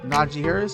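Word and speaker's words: Najee Harris: two right here traver lawrence and then uh naji harris that's how you say his name okay so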